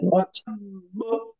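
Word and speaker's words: وَتَبَّ: এই যে এটা পড়তে হবে ওয়া তাব্ব, এটা হলো সবচেয়ে বেশি কালকালা কুবরা তাসদিদ, একটা শব্দই আছে কোরআনে ওয়া কত হয়? তাব্ব, ওয়া তাব্ব একটু ধরে রেখে বেশি করে ওয়া তাব্ব।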